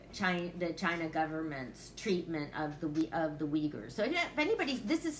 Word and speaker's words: Uyghurs: First, I've been following issues about the Uyghurs.